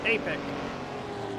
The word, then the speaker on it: Epic: As JS says to me that Epic is pronounced Apic. I'll keep that in mind, although do forgive me if I get it wrong in the heat of the moment, but Apic it is.